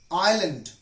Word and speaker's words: island: about the silent s letter debris i'll i'll island Pressey so these were few examples with the letter S is silent and now we learn about the silent